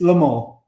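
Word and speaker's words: Le Mans: which one now it's Lamar Lamar so you don't pronounce the N or the S um well you don't pronounce the S really if you're speaking with a French accent it's Lamar but you know what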